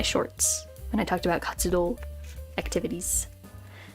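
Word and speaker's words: 活: This was featured in one of my shorts when I talked about katsudo activities. This pronounced as katsu.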